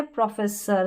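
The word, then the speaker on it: professor: फिर ये है प्रोफेसर, तो देखिए ओ आर अ पढ़ा। सेम ऐसे ही ये सारी की सारी बड़ी बड़ी स्पेलिंग्स है।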